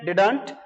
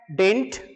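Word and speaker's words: didn't: इसको इंडिया में लोग प्रोनाउंस करते हैं डिडंट, लेकिन जो प्रोफेशनल इंग्लिश बोलते हैं वो इसको प्रोनाउंस करते हैं डिंट, डिंट। और मोस्टली फॉरेनर्स दे प्रोनाउंस डिन।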